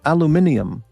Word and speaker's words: aluminum: There's no I. See, a L U M I N U M is the word aluminum. But, uh, Brit, the Brits go aluminium.